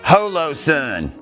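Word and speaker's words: Holosun: Just get on the Amazon and look up Holo Sun. It's the same thing but cheaper. It's just as good. It's actually pronounced hollow and my site mark is of comparable quality.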